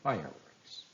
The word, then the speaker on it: fireworks: your guess was correct the word room in roommate takes the stress fire in fireworks book in bookstore launch in lunch hour news in newspaper house in housework week in weekdays and Home in homework in this exercise you should